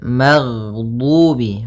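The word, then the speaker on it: المغضوب: Kemudian maghdubi ghairil magdubi ghain ag ghain termasuk salah satu sifat huruf yang dia adalah sifat rakhawah yang di mana suaranya mengalir. Ag. Nah, tapi dia juga termasuk sifat huruf yang dia sifatnya adalah jahr. Jahr yaitu tertahannya nafas kita. Jadi ketika melafalkan ghain, nafas kita tertahan, suara kita dialirkan.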